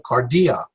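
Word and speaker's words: καρδία: D kardia means heart the cardia will put the stress on the middle syllable kardia and then we have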